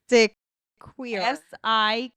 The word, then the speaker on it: Siquijor: Sikajor. Island. Sikajor. Sikajor. Nope. Shoot. Megan. Nah. Barkley. No. Not so much. Siquijor. Siqijor. Sikajor.